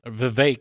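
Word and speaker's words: Vivek: fourth was v ramaswami v sorry rhymes with fake at 7.7 % he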